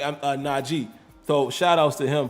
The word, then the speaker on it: Najee: king x minty says they keep saying naji name wrong like isn't even hard to say yeah it's not g man and he made it very clear you know even before the season is not g g but everybody says najee